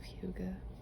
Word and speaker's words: hygge: It was popularized by the book Little Book of Hygge. The way it's spelled looks like Heige, and it's hygge.